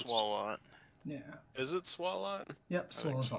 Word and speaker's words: Swalot: I think it's pronounced. Swallow. Yeah. Is it Swalot?